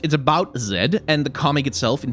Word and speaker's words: Zed: Zed standing at and I'm gonna mispronounce Zed's name many many times over the course of that cuz I'm gonna say said instead of saying Zed which is the voiced alveolar fricative I'm gonna use the